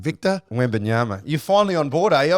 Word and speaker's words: Wembanyama: Victor Wembanyama. You're finally on board, eh? I've only been bringing him up. Wembanyama, yeah. Wembanyama.